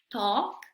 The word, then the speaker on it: talk: Aquí la L no se pronuncia, ¿sí? Vamos a ver cómo pronunciamos estas palabras. Talk, walk, should, could, have, palm.